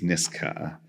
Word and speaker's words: Nisga'a: So the correct way to say the name of my nation, the nation of my grandparents, is Nisga'a with a K sound, and all of my